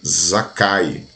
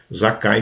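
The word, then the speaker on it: Zakkai: Israel para os Judeus ele chamam Zaqueu de zakai no hebraico aí a gente vai ver agora Quais são as pronúncias da palavra Zaqueu zakai que significa transparente no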